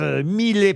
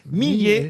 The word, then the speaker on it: Millet: met on prononce bien j'ai eu un doute à savoir est-ce qu'il fallait pas dire M car certains disent met par erreur mais il faut bien dire met le fameux angellus de